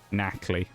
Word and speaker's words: Nacli: It took me a while to kind of like lock down that, yeah, it was actually Nacli.